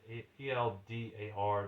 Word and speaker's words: Eldar: It's spelled Edar, or Elder Sagas rather. Eldar. It's spelled differently than it sounds. It's not spelled with E. It's spelled with an A.